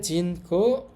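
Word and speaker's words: 人口: আমরা দেখতে পাচ্ছি এখানে এটা হচ্ছে মানুষের কাঞ্জি, তো এখানে উচ্চারণ হবে জিন, আর এটা হচ্ছে মুখের কাঞ্জি, মুখ হচ্ছে কো। একত্রে বললে জিন কো অর্থ হচ্ছে মানুষের মুখ।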